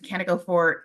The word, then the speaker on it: Kaneko: And Kaneko, am I pronouncing that right? Yes, you are.